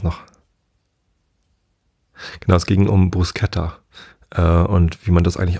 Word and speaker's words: bruschetta: Und das schreibt man ja Bruschetta. Und viele sprechen es deshalb Bruschetta aus, weil SCH ist halt, ne? Ich glaube, die korrekte Aussprache ist Bruschetta. So habe ich es beim Italiener mal gehört. Ich bin halt kein Italiener, ich kann auch kein Italienisch. Aber ich glaube, das S gehört halt nicht zum CH dazu.